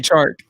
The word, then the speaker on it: Chark: Oh, I can't pronounce his name very well. But yeah, DJ Chark.